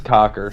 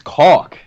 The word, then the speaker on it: caulk: It's notorious cocker. Yeah. It's caulk, by the way.